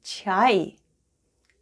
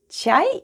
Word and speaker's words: ЧАЙ: ЧАЙ /chai/ is tea in Russian: ЧАЙ /chai/. Let's spell the word ЧАЙ /chai/: the first sound is Ч /ch/, then we have А /a/ and И-Short at the end.